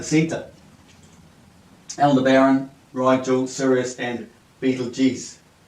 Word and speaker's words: Betelgeuse: Aldebaran, Rigel, Sirius and Betelgeuse. Betelgeuse, how they say it apparently.